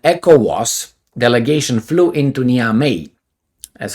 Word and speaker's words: Niamey: right says an echo was delegation flew into niamey that's how I pronounce it deal with it on Saturday to